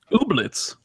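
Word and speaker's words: Ooblets: new indie game obletz I believe it's pronounced obletz uh that was interesting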